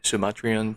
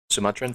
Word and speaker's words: Sumatran: Sumatrian Tiger. Sumatran Tiger. Sorry, I pronounced that wrong.